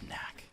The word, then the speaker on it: NACC: It's pronounced Knack. Or like Nask if you want to do a soft C for one of them.